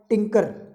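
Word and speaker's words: tinker: तो ये टिंकर है, टिंगर नहीं है, ठीक है। टिंकर हम अपनी लैंग्वेज में टिंगर बोलते हैं, टिंगर नहीं है, टिंकर है। ध्यान से प्रोनाउंसिएशन सही होना चाहिए, टिंगर मत बोल देना स्पीड में बोलो तो, टिंकर बोलना है।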